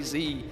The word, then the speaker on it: Z: you know why is because Americans say Z and we say Zed and I tried to